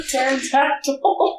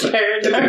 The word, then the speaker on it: pterodactyl: Because it's a pterodactyl. You pronounced it wrong. It's pterodactyl.